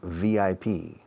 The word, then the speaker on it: VIP: En inglés no decimos VIP, decimos VIP. Pronunciamos cada letra.